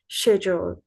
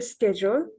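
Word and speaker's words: schedule: যেমন কেউ বলেন যে স্কেডিউল, কেউ বলেন শিডিউল। তো এটার আমেরিকান হচ্ছে স্কেজুল, আর ব্রিটিশ হচ্ছে শেডিউল।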